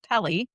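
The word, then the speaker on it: Pele: Sister of Py, which rhymes with Belly, is sometimes named in these traditions.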